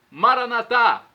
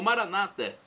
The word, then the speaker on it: Maranata: eu clamo do aramaico Maranata como dizemos nosso católicos com a tônica na última sílaba o Maranata como dizem nossos irmãos separados os evangélicos ou protestantes platônica na penúltima sílaba é do aramaico de